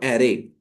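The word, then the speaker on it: array: हैं उसको बोलते हैं एरे. ठीक है. एरे इज the right pronunciation. लोग अरे भी बोल देते हैं, ठीक है, लेकिन अरे नहीं बोलना है, एरे बोलना है.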